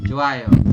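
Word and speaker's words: 좋아요: seperti ini ya teman-teman kita Bacanya adalah joayo tulisannya Jo Ayo kita bacanyaayo kenapa dibacanya seperti ini karena i bertemu dengan vokal a ya i di akhir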